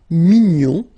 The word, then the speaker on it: mignon: And then another example, mignon will become mignonne. Okay, same thing here, nasal mignon, and then when you put the feminine form, mignonne.